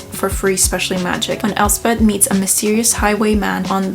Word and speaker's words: Elspeth: I don't even know how to pronounce her name. Oh, it's Elspeth, apparently. Elspeth.